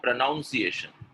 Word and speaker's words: pronunciation: Pronunciation or pronunciation?